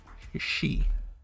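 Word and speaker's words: し: She. Like in sushi, she.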